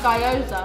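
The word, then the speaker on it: gyoza: like her asian dumpling i said it wrong didn't i that's guyoza oh i've combined gaiosa and i've got three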